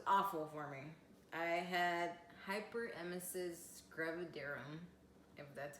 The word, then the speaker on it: hyperemesis gravidarum: that it was awful for me I had hyperemesis gravidarum that's how you pronounce it and it's short for HG so